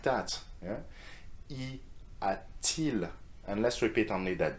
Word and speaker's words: y a-t-il: ease the pronunciation because it is much easier to pronounce y a-t-il than y a-il. You see how hard is it? I need to make an effort here. Y a-il, and it doesn't sound quite right?